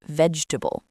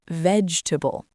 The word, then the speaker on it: vegetable: For me, when I was learning, it was the word "Vegetable." I used to say "Ve-Ge-Ta-Ble". But now I know it's "VEDGE-tuh-bul".